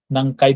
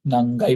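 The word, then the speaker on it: 何階: হচ্ছে দ্বিতীয় তলা তারপরে প্রশ্ন করলাম নাকাই বললাম না কিন্তু নাঙ্গাই বলেছি তাই নাঙ্গাই নাই মানে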